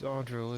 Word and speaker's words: Ardril: Okay, well, we know, how do you pronounce his name again? Andrio? Ardril? Yeah, the head sentinel. Gosh, you're Trying to... smacking me. It's been a minute. It's Ardril, isn't it? I believe. Yeah, that's it.